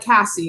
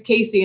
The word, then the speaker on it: Casey: in and i'm like how do you say my name and they were like cassie and i said you're wrong my name's casey and they said just